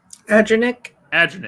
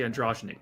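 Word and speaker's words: Adranik: Adrenic, because I want to say Androgenic, because in the game I'm playing it's literally is the same type of character.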